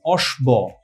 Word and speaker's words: অশ্ব: এর মত উচ্চারণ হয় শব্দের মধ্যে বা শেষে ব ফলা যেটা থাকে সেটা কিন্তু আমাদের অনুচ্চারিত থাকে কিন্তু আশ্রয়ী যে ব্যঞ্জনটা